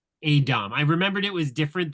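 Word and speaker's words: a'dam: I will say I did really like the way the show chose to build the Dame is how they say it, or Adom. Adom.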